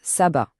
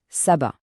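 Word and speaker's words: سبعة: On le prononce Sabat. Une deuxième fois, Sabat.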